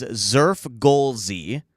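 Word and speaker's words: Xfrgolszy: The pronunciation I guess is Zurf Golie.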